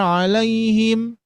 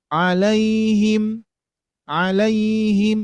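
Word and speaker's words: عَلَيْهِمْ: Dikoreksi tuh Pak Bu ketika saya mengucapkan ihdinatal mustaqimatina anamta alaihim. Itu dikoreksi langsung alaiim alaiim itu enggak jelas. nempelnya ke pangkal tengah atau atas, tapi berbeda dengan alaihim.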